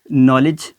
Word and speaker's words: knowledge: एन आ गया है, तो ऑटोमेटिकली जो वहाँ पे जो के की वॉइस है वो हज़फ हो जाएगी, वो साइलेंट हो जाएगी, उसको पढ़ा नहीं जाएगा। इस तरीके से नॉक, नॉलेज और नो की तरह।